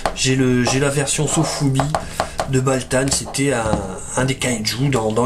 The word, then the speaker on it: Valtan: Ensuite, ici, nous avons Baltan, Valtan, et ça s'écrit avec un V, mais je pense que ça se prononce comme pour le kaiju d'Ultraman, Baltan. Si vous connaissez, c'est lui. J'ai la version Sofubi de Baltan, c'était un des kaiju dans Ultraman, tout simplement.